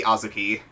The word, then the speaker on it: Azuki: I do have to ask, are you deliberately pronouncing it wrong or no? I plead the fifth. Because it's supposed to be Azuki.